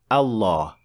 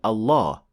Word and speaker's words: Allah: words in Arabic specifically it will be a full mouth lamb or as we call it in English the dark L as in the word luck and pronouncing lamb like